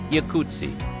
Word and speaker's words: Jacuzzi: His name was actually Yakutsi, spelled with an initial I. But a misspelling at Ellis Island changed the I to a J, and the Americanized pronunciation, jacuzzi.